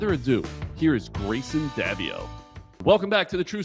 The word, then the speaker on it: Greyson Daviau: And it's really important that we pronounce that name properly. Grayson Davio.